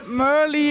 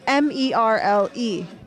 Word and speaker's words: Merle: my nickname merly because it's spelled m-e-r-l-e yes so in in America we'd say Merle yes I know the first time in America my name was Merle at the track and